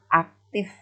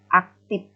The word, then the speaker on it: aktif: Kemudian aktif. Karena pengucapan pengaruh dari daerah, ada yang mengucapkan sebagian orang aktif, ya, F menjadi P.